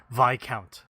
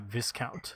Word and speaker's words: Viscount: for the devilishly handsome VI count my wife told me that it's VI count not Viscount that is correct I